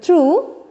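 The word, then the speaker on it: through: थ्रू यजीएच इज not pronounced थ यजीएच इज not pronounced without this portion you कैन यू can pronounce the word अल दो दो थू थ्रू एंड थ ठीक है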